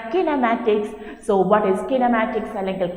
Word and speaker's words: kinematics: as the kinematics so what is kinematics correct pronunciation kinematics so what is kinematic cylindrical kinematics it is